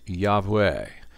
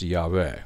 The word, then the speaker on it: Yahweh: am and usually pronounced Yahweh although it's not necessarily the case that that's the pronunciation because the ancient Hebrew had no vowels in it only consonants God says to Moses